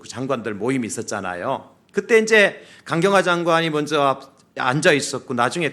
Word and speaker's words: 강경화: 강경화 장관하고 간경화가 아니라 강경화입니다. 제가 발음 잘못하면 오해되니까.